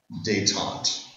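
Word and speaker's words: détente: a larger foreign policy strategy is something called dayon okay it's a funny word it's spelled D E N T day it's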